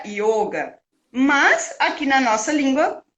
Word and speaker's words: yoga: essa sabedoria do yoga, não existe o som de ó, né? Aquele ó abertinho, assim. Não sei se é aberto que se chama, mas enfim, não tem esse som de ó. E aí se pronuncia yoga.